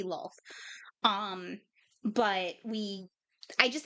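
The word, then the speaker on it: Lolth: it the wrong way I probably said it differently earlier but yeah it it should be LOL um but we I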